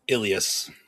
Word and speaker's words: Illyes: Ilas. Ilas.